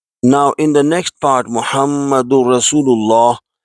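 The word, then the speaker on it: مُحَمَّدٌ رَسُولُ اللَّهِ: next part muhammadu rasulullah there is shut on the word Meme and in Holy Quran if there is on letter meme or noon then it has to be a bit elongated to two harakatane so we pronounce muhammadu rasulullah to conclude we should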